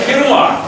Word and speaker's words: Ферма: вот это пиво называется ферма ферма чтобы никто не перепутал со словом ферма тут специально ударение на бук поставлено снимок сделала Моя жена